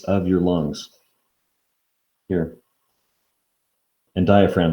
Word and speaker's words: diaphragm: your lungs here and diaphragm is a fun word to spell it looks like diaphragm for some reason the g is silent again i don't know why